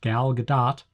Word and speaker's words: Gal Gadot: So in this movie, Wonder Woman is played by Gal Gadot, and I looked up, I'm told that's how it's pronounced, Gal Gadot.